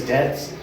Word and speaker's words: debts: Cuz debts rhymes with bets.